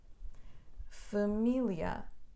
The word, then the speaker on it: família: espontâneo um titânio a família família e antepenúltima sílaba e máquina não é